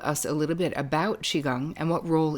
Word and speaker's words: Qigong: really profound for you from the book is Qigong is am I saying it right yes so